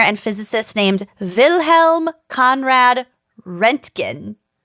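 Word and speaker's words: Röntgen: wow when a german engineer and physicist named wilhelm conrad rentkin there's an umlaut over the o so i think it's pronounced renkin okay produced and detected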